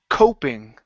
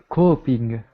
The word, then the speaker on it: coping: word is pronounced Co coping C coping good now it's coping because there's only one one consonant between the vowel and the ing meaning that there was